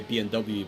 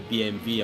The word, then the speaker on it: BMW: basically Europe or by English speaking people always say BMW but in Germany they say BMV I'm like B BMV